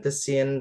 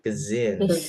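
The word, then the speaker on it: cuisine: Begitu juga ini ya, bukan kein tapi kezin.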